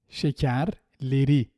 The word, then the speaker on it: şekerleri: Let's see what happens to it if we attach a suffix beginning with a vowel. Şekerleri, not şekerleri. Şekerleri.